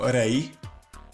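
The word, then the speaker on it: 零: Czyta się je oczywiście jako rei.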